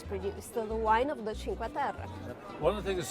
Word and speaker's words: Cinque Terre: Italian Riviera to visit the 5 villages of Cinque Terre, known for its iconic views and very unique terrain. So we made it on the train. We're here at our first stop in Cinque Terre.